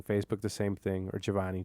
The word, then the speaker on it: Jhovany: Or Giovanni, JHOVANY with an H because my parents are Mexican and couldn't spell, and they sounded out phonetically in the hospital.